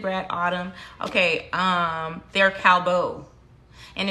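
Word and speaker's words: Callebaut: thank you hood brad autumn okay um they're cowbo and it's spelled c-a-l-l-e-b-e-a-u-t it's in my amazon like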